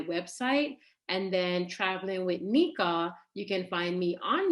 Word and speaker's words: Niqua: But just in case, if you are making a note of it, Nika's name is spelled Niqua.